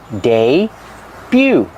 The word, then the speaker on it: debut: The T is silent. Put the sounds together, day-bew.